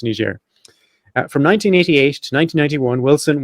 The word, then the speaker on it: Niger: Niger, yeah, but it's one of these former French colonies, and they all speak French there.